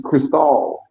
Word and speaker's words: Cristal: That's Dame Dash Cristal, and I was That's Dame pronouncing Dash it right there, wrong.